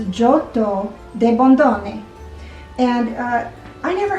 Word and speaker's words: Giotto: they were pronouncing it everybody was saying giotto kind of like geppetto but i think the real pronunciation is johto de bondone and i